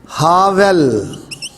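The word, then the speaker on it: הֶבֶל: تو ہابل کے لیے جو عبرانی کا لفظ استعمال ہوا ہے ہاویل، چونکہ یہ بیتھ ان پوائنٹڈ ہے تو اس کا تلفظ بنے گا ہاویل.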